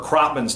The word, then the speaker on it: Kropman: to screw up Parker Kropman's name. It's not Krotman, it's Kropman, so pronunciations are in there.